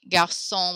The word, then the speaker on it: garçon: Garçon, we don't pronounce the S.